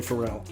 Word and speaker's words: Pharrell: How do you say his name? His name is definitely Pharrell.